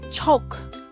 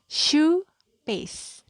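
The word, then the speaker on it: choux pastry: bahasa asingnya adalah shoppes Jadi bukan cowok tapi supplies bacanya Shu peace ya demikian materi yang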